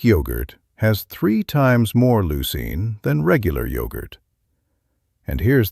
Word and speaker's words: leucine: That's spelled L E U C I N E pronounced leucine.